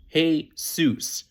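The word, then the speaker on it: Jesús: pretty common first name it's pronounced heus oh hey seus great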